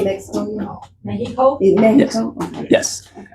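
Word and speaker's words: México: Say Mexico again. Mexico. Mexico. Okay. yes. And the X, yes, does make the H sound as well.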